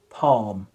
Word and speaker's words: palm: Calm, calm, calm, palm, palm.